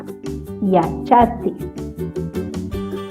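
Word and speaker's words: yachatsi: Yachati. Esta TS suena ti, yachati, ¿ya?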